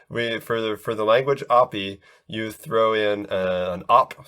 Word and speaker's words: Oppy: middle school and stuff some kids would say it was like uggy woogie or something like that instead of opi like they put oh the different syllables there's all kinds of